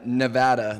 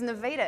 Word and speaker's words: Nevada: from we are team Eniro Haven from Reno Nevada representing UNR and what does nirro Haven do